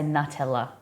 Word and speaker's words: Nutella: new no that's that's the way that CAD pronounces it I we say n nut Nutella I'm pretty sure all Aussies say Nutella yeah it's actually the accurate way yeah Cad